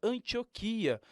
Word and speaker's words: Antioquia: não quer na Antioquia na verdade é Antioquia a palavra não tem acento Então porque dar ênfase a a letra O né entendendo tudo isso